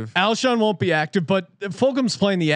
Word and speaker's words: Fulgham: my man Travis Fulgham, which no one can pronounce this man's name right. I've listened to every single podcast. Fulgham, right? Fulgham. Fulgham. Yes. Fulgham. Everyone mispronounces this guy's name wrong.